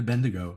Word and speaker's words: Bendigo: You told me to come to Bendigo. And I'm coming to Bendigo, right?